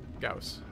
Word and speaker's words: Gauss: Oh, we could run Gauss on it, too. Yeah. Forgot we had a... Sorry, it's supposed to rhyme with house. Gauss.